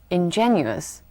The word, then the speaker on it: ingenuous: Notice that in English, there's another adjective looking very much similar to ingenious. It's pronounced as ingenuous.